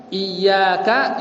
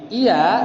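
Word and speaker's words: إِيَّاكَ: Tapi kalau ya-nya dibuang satu alias enggak ditasydid, bacanya iya, artinya apa? Cahaya matahari.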